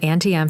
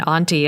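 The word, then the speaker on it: Auntie Em: think i've successfully said anti-m through this whole thing i i was resolved to say anti-m and not on tm even though i firmly believe in auntie as the pronunciation i wanted to do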